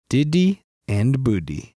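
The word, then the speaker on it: Didi & Boodi: This movie is called Diddy and Booty.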